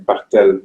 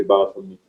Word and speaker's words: Barthelme: If you know French, you pronounce his name Bartel, but the Americans say Barthelme.